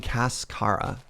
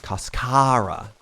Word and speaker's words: cascara: my correct my pronunciation I think I was saying cascara and they're saying no Serge it's kasara how how am I doing